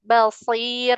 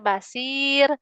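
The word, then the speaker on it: بصير: Terus di kata shad basir masir. Huruf shadnya tebalin lagi biar enggak kecampur sama seperti huruf sin. Kalau yang bacanya basir, masir. Nah, itu huruf sin. Jadi nanti ketukar salah arti.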